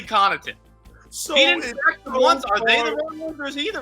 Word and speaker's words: Connaughton: say his own name they call them Kenai in the whole thing there's no way his name is Kenai n-- that kid's name is definitely Connaughton the ones are the